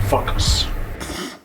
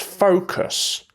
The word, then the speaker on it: focus: I hope that guy doesn't interfere again, because I need to focus. What? Sounds funny, right? Well, it's pronounced focus.